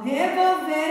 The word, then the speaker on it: revolver: Sílaba tônica é a que nós pronunciamos com mais força. Então, a que nós pronunciamos com mais força é a sílaba ver, né?